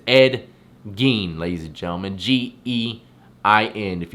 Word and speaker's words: Gein: and corpse defiler ed gean that's how you pronounce it not again i apologize it's ed gein ladies and gentlemen g-e-i-n if you would like